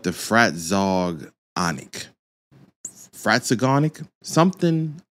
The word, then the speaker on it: Fratzog: a t z o frat Zog that's I mean that's the only way I can announce it so if somebody tells me pronounce a different way I'll be shocked okay but